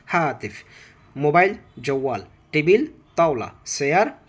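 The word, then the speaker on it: هاتف: Phone হাতিফ, হাতিফ বলবো না, হাতিফ যদি বলি টাস করে এটা শব্দের উচ্চারণটা মানে একটু ভিন্ন দিকে চলে যাবে, সেজন্য আমরা ফোনকে জাস্ট একটু মাঝখানে একটু ছেড়ে দিয়ে পড়বো, সেটা হচ্ছে হাতিফ।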